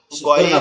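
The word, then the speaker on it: غ: গইন এবং খ হচ্ছে আমাদের কণ্ঠনালীর শেষ ভাগ, অর্থাৎ আমাদের গলার সাথে আমাদের মাথার যে অংশটা লেগে আছে এখান থেকে উচ্চারণ হবে এরকম ভাবে, খ, খ।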